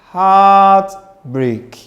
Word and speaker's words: heartbreak: You don't say heartbreak and go very low. It continues. Don't say heartbreak. Nope. It continues to rise.